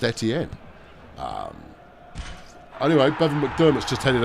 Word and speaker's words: Etienne: insist on pronouncing it Etienne. And you kind of go, well, that's not right. It's a French surname. And as the French will undoubtedly tell you, it is pronounced Etienne.